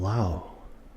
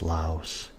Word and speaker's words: Laos: This is from Laos, which a lot of people mispronounce Laos. It's actually Lao.